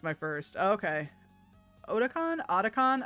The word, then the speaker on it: Otakon: Otakon? I don't know how to pronounce it. I assume Otakon since it's otaku.